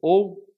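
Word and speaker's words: ὦ: esta esta interjeição o ou o lembrando os irmãos que nossa pronúncia aqui será o porque esse ômega ele é sempre fechado ele nunca tem o som aberto temos aqui meus amados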